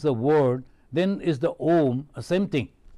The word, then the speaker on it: Om: A, U, Ma, but pronounced as Om.